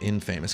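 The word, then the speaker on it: inFamous: got uh in famous I pronounce it in famous because it's like camel case letters so I presume you're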